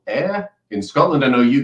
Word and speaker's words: Ayr: They then presented me with a second option, which was a place called Ayr in Scotland. I know you guys pronounce it Ayr, but it's pronounced Ayr.